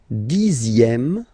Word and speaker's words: dixième: Le dixième, so remember, even if you've got this z, X here, you pronounce it z.